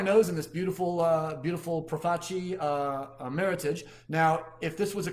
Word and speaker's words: Meritage: And for some reason, they've decided that Meritage rhymes with heritage, because I used to say Meritage all the same time, but no, it's cool.